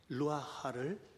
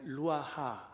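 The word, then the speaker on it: רוח: 생기거든요이 하나님의 생기 루아 루아를 불어넣어 주셨습니다 히브리사람 은 발음을 할 때 여기서 긁어내는 표현들이 좀 많아요 그냥 루아하 하면 편할 텐데 그렇게 안 하고 루아 이렇게 하거든요 하나님의 생입니다이 생기가 아담에게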